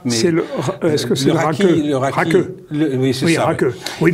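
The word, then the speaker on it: rakı: Mais est-ce que c'est le raki? Oui, c'est ça. Raki. Oui, parce que le i se prononce.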